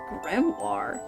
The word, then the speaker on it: grimoire: Grimoire. That's how you say it, right? It's It's grimoire. You guys, you can phonetically say it.